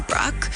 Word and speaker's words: Bruk: I think initially it's supposed to be pronounced as Bruk, but I think just from generations, everyone's just said Brooke. So everyone just now rolls with it.